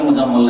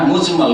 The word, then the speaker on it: মুজমাল: মুফাসসাল আর ঈমানে মুজমাল ভুল করে অনেক উচ্চারণ করে মুজাম্মল একই রকম করে উচ্চারণ করে কিন্তু তাহলে মুজাম্মুল না হ্যাঁ মুজমাল কারণ এটা হচ্ছে বাবি